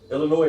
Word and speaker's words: Illinois: This So Illinois is not pronounced with an S, but everybody and their mama pronounce it with an S.